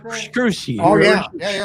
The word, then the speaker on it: Scrushy: Who is Richard Scrosey or something like that? Scrushy.